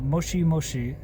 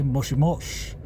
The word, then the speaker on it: moshi moshi: our language discussion where she was like oh moshi moshi is how you say pick up the phone but I but I learned to say moshim mosh and I go look it up and yeah that's a misprononunciation caused by my ear not being